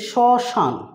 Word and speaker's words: শ্মশান: ব্যঞ্জনের মত উচ্চারণ হয় আবার এখানে লিখছি শ্মশান তাহলে কি আছে এখানে ম ফলা রয়েছে এর উচ্চারণ কিন্তু হচ্ছে শ্মশান এখানে উচ্চারণ উচ্চারণটা অনুনাসিক হবে ম ফলার তৃতীয় নম্বর